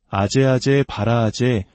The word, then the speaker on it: 아제아제 바라아제: 한국에서는 이를 소리나는 대로 아제아제 바라아제 바라승아제 모지 사바라고 읽습니다. 그 뜻은 가자, 가자, 저 피안으로 가자.